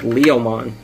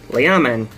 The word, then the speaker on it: Leomon: Yeah, I thought so too, but then there's an O in there. So it's like Leomon. Leomon. That's how you say it.